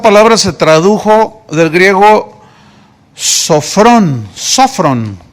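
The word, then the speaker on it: σώφρων: se tradujo del griego sofrón sofrón tiene acento en la primera sofron y se tradujo prudente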